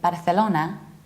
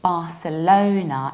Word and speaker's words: Barcelona: to see is and even though in Spanish they say but a solana we say in English Barcelona and we need to round low not like lonely Barcelona we're in the American